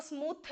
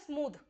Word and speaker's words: smooth: हो सकता है, SMOOTH, इसको स्मूथ नहीं बोलते, स्मूथ नहीं होता, हिंदी में इसको ऐसे लिखेंगे स्मूथ, ठीक है, स्मूथ, इसका प्रोनाउंसिएशन होता है स्मूथ, द का साउंड आता है, सॉफ्ट डी, कोई अगर म्यूजिशियन है